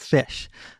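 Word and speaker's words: ghoti: So for the G-H from tough, and the O from women, and the T-I from nation, and you get fish.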